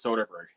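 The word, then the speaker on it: Soderbergh: Soderberg he definitely it's it's spelled wrong but it is Soderberg okay I thought that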